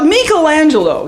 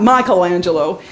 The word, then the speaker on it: Michelangelo: we go here we go oh artistic now Michelangelo you got to say his name right you know if you've been to Italy you know it's not Michelangelo Michelangelo he depicted what he thought would be